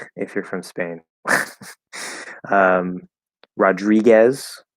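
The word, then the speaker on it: Rodríguez: you're from Spain um Rodriguez so D to R right the D becomes a a j in the combination so we follow that it's not Rodriguez Rodriguez and of course the O there because it's between two consonants that tends to become the fifth vowel ah Raji um could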